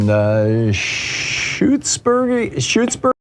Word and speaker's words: Shutesbury: Tim in Shutesbury, Massachusetts.